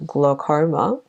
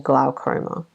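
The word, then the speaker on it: glaucoma: who have had to glarma is an interesting word to pronounce it's spelled g l a u c r m a and you can pronounce it as either gloma or gloma so the Au vowel pair produces a different sound I think between British and American accents and then the GL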